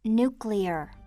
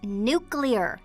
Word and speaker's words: nuclear: You said the word wrong, Reed. It's nuclear. Yeah, I know. Nuclear. You did it again. It's pronounced nuclear. That's just what I said. Nuclear. Hun, listen to me. It's nuclear. You're adding a U in there.